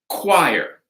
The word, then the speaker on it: choir: It's a hard K, choir. Okay?